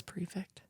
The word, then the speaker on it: prefect: like perfect yeah it's prefect so there's the pre you want the book p r e is it's spelled perfect p e r it's definitely prefect p r e f c t I totally was reading